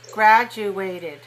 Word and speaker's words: graduated: year say all right how many syllables do you hear in the word graduated graduate three graduated when i say it i'm saying before a ted graduate graduated graduated can you hear four okay where's the stress